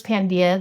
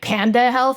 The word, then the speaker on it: Pandia: Um, we chose Pandia, the Greek goddess of healing, light, full moon because we're all about women's empowerment. And then everybody's like, "Panda health." And I'm like, "No, panda health."